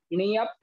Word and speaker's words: नियप: ध्यान रखना है, यहाँ नियप आधे पा तक बोलना है और पा पूरा बोलना है। तो कैसे निकलेगा उच्चारण। नियप, इस प्रकार से।